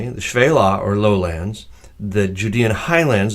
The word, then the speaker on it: Shephelah: is the Fela sometimes you have heard this pronounced in English the shephelah but in Hebrew it is pronounced the Fela and it simply means lowlands rolling hills with